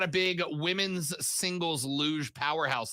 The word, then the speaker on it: luge: her face anyway big luge fan over here uh all right uh did you say shut lube championship no i said luja with a g but a soft g but not like the